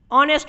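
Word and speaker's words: honest: बहुत सारे शब्द, जैसे ऑनेस्ट मैन, ऑनेस्ट मैन, ऑनेस्ट मैन जो है ये ओ का उच्चारण आता है ऑनेस्ट, इसीलिए हम लोग यहाँ पे एन लगाते हैं।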